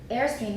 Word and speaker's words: Airstream: for an unstressed syllable Airstream mechanisms if we go up again we've got stress Airstream Airstream that's how we do it it's a deep end yeah and stream is not stressed so it's already brought